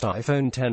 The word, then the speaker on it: iPhone X: the a 11 sock the iPhone X pronounced iPhone 10 is a visually significant